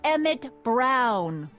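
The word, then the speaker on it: Emmett: to a te that's EMT Brown rhymes with clown which I'm beginning to think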